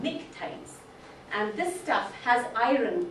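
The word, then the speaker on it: pnictides: have what are called nictites. Can't even pronounce this because it has this funny P there. But that's supposed to be silent, but nictites.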